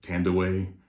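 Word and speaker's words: Thandiwe: ago with vin diesel and she she actually pronounces her name uh tandaway now i guess that's the way it's supposed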